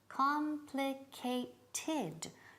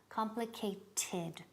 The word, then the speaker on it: complicated: quantity llamas on guatrau four syllables complicated don't forget the last syllable not complicate complicated what's the most complicated